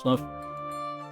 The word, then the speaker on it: Slough: Apparently, it's pronounced Sluff.